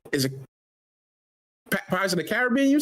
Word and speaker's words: Caribbean: Oh, people who say Caribbean. Caribbean. Caribbean. Those are the same people say caramel.